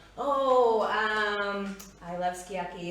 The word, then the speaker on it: sukiyaki: version um it is in japanese phonetics pronounced tsukiyaki because often the u and the s s u gets dropped when you sang it um so i